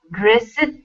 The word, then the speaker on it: dressed: in the verb, and dressed is too difficult. Dressed. Well, the trick here is that you have to forget that E exists.